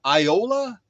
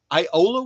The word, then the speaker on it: Iola: to google iola wisconsin it's spelled i o l a just like it sounds i o l a